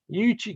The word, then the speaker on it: Uchi: So let's see, it's pronounced you put the U separate, Uchi Creek.